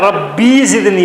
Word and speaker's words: ربی زدنی: حالانکہ یہ کیا ہے؟ رب ہے. اصل میں یہ کیا ہے؟ ربی ہے.